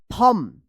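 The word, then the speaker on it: thumb: रहेगा ऊम पढ़ेंगे ऊम टी एच यू एम बी इसको क्या पढ़ेंगे थंब जैसे बोलते हैं ना थम्स अप जो क्या है थंब यहां पे बी जो है ना साइलेंट इसको थंब मत पढ़िएगा थंब पढ़ा पढ़ा जाता है।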